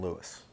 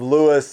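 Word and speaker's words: Lewes: like, hey, I really want to be in Lewis.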